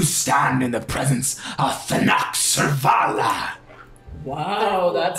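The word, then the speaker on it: Thanachsurrvala: great Dragon you stand in the presence of than surala wow that sounds very difficult to spell how do you how do you spell that oh why yes it is t h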